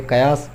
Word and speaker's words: قیاس: یہ لفظ لوگ قیاس پڑھتے ہیں جو کہ غلط العام ہے. اس کا صحیح تلفظ ہے قیاس.